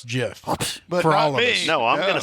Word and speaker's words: GIF: is right as all soft G soft G okay Jeff and I think she's saying that the originator of that name is Steve we'll Wilhite and she says Steve says Jeff not gif really I thought you